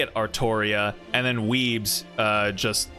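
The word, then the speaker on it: Artoria: But the way they pronounce it in Japanese, because they can't pronounce L's, is it they pronounce as Arttoria, which doesn't really make that much sense because Arttoria sounds like it uh lines up better with Arthur, but yeah, from from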